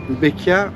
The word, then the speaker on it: Bequia: c'est trop et ben c'est le kiff quel kiff quel kiffe on a eu un véritable coup de cœur pour beia qui se prononce d'ailleurs be c'est une île verdoyante